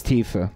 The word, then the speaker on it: Tifa: I'm pronouncing the end, right. Not as a... It's just an A. Tifa. Tifa. It's Tifa.